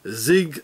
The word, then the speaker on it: Sig: Special Forces is a zig zawa automatic SLG from Switzerland and for every german-speaking person it's obvious that the zig gun is being pronounced as Zig meaning Victory as in